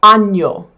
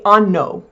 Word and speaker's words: año: That is pronounced ny, like canyon, c a n y o n the n y is a ny, same in Spanish.